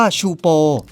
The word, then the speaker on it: Teahupo'o: ยาก อยู่ เหมือน กัน มัน ออก เสียง ว่า ชูป ซึ่ง แปล ว่า กะโหลก แตก ใน ภาษา ตาฮิติ ใช่ คุณ ได้ ยิน